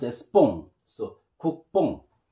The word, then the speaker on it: 국뽕: You know, double beep, we call b, b, b, and vowel o and ing, bong, pronounced as bong. So, 국뽕, 국뽕, 국뽕.